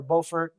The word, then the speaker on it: Beaufort: There's also an Africatown that comes about a little bit later um in Beaufort, South Carolina or Beaufort, um South Carolina depending on how you want to pronounce it.